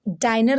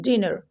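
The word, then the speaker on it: dinner: ये क्या लिखा है अब इसको हम डाइनर तो नहीं पढ़ते हैं ना इसको हम क्या पढ़ते हैं डिनर क्या पढ़ते हैं डिनर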